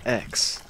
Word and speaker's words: X: created mortal kombat and he said that it's pronounced x but he knows that a lot of people are going to call it 10 because the last one was called 9 and